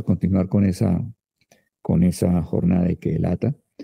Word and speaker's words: Ceelata: anterior, y acamparon en Kehelata. Recuerden que la C se pronuncia en hebreo como K.